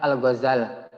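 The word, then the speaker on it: Al-Ghazzali: 1111 masehi di thus pelafalan nama Al Ghazali itu ama lafalkan nya Al Ghazali yakni mentasydidkan huruf Zai alasannya Al Ghazali berasal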